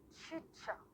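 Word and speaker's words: Čachtice: هي كتكتب CHTECE ولكن تتنطق تشيتشا.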